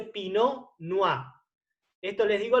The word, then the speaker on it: Pinot Noir: uva pino lugar que se escribe con té final vino si lo pronunció para que sepan pero no se pronuncia latte pinot noir y tampoco se pronuncia la r si se dice pino no a esto les digo